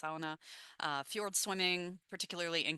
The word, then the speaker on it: sauna: Uh local pastimes that I love in the Nordic region are sauna, sauna is how they say it, sauna, uh fueled swimming, particularly